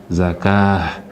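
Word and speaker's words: الزكاة: All these places the way they stop with ta'ul marbuta. We don't say it stop. It stop like say it stop on top ha. It stop like say ha.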